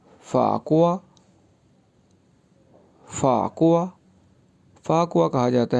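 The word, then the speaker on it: 法国: फाकुआ।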